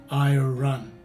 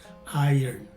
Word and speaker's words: iron: in the beginning of the word some people pronounce this as spelled as in i or run just like the cross and blurred out yellow